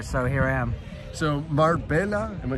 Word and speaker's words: Marbella: So Marbella, am I saying it right? Marbella? Marbella.